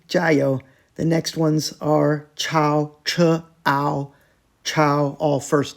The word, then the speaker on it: 抄: Chao is the second character. Yeah, all 3 of them are Chao, first tone.